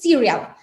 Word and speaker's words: cereal: Bueno, se escribe exactamente igual en inglés, pero la pronunciación es distinta. La pronunciación es cereal.